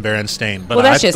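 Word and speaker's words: Berenstain: s i n and it in reality is Baron stain there's no way it was that huh interesting has never been baronin it's always been baren stain but I that's just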